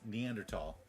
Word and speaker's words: Neanderthal: Neanderthalss, although I've also heard it pronounced Neandertol, were strong were stronger and had larger brains than modern day humans.